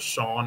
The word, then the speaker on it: Sean: like it was first name of it was Shawn and that's how you pronounce it.